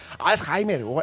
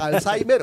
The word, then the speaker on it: Alzheimer: del día internacional del Alzheimer Alzheimer para que estemos muy pendientes todos como lo mencionas es que esos alemán básico se puede pronunciar Alzheimer o alzheimer